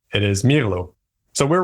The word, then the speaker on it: Mirlo: all been calling it Mero like the wine but apparently because it is based on the Spanish word for Blackbird it is Milo so we're wrong but